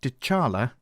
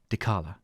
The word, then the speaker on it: Dechala: just a quick note we mispronounced Dar Cara's name throughout the rest of our interview so instead of dechala please imagine we are saying dalala on with the show